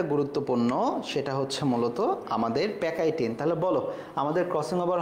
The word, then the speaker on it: pachytene: PACHYTENE, এটা হচ্ছে আসল উচ্চারণ, মানে বাংলায় আসল স্পেলিং, ইংরেজিতে আসল স্পেলিং। PACHY, প্যাকাইটিএনই, প্যাকাইটিন। ওকে, দেখে আমাকে কি আনসার দেয় এটা সবার আগে।